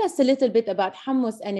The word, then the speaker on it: hummus: Last question, last but not least, hummus. First of all, say it. Say, how do we pronounce hummus?